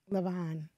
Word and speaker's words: Lanvin: Levon. You don't say the first N. It's just Levon.